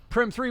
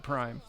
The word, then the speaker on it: Prim 3: Prim 3 with the backboard shot from below gets it in. Oh, the assist by Sir Captain Spoon. And yes, everyone, his name is pronounced Prim 3, not Prime.